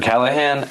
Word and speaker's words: Callaghan: Uh, could you please just say your name and spell it for the record? Sure. My name is Andrew Callahan.